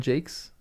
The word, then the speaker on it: Jacques: Brian Jacqu Jake. Brian Jakes. Really? Is it pronounced Jake?